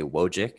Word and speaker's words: Wojcik: what happens next is they ask how to pronounce it i say wojcik and then they go